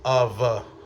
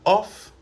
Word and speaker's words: of: On ne dit pas off, mais on dit of.